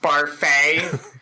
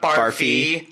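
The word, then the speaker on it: Barfée: so that was like actually it's pronounced Bar face not barfy there's an accent aigu so I have to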